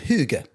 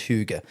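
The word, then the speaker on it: hygge: have this thing called huga. Oh, yeah. H y g e. It's very hard to pronounce. It's pronounced all sorts of different ways. I believe it's huga.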